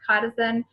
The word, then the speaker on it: chitosan: It's called Chitosan. So I know it looks like it's pronounced Chitosan, but it's Chitosan.